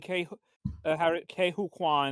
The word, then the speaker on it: Ke Huy Quan: It was cool seeing Harrison Ford and Ke Huy Quan.